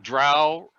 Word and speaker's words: drow: rhyme with pissed okay just like drow rhymes with cow not with roe drowl rhymes with cal